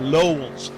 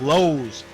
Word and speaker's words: Lowe's: I kept pronouncing it Lowell's, and it's Lowe's. And I was no L in there.